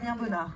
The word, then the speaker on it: Bonnard: Damien Bernard. Damien Bonnard. Right.